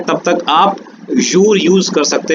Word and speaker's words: jour: माते means morning, MATIN, माते, pronunciation is माते एंड इट is morning. जूर, JOUR, जूर, जूर means day.